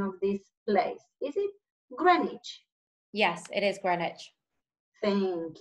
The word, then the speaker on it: Greenwich: to make sure that I'm using the correct pronunciation of this place is it Greenwich yes it is carnage thank you and what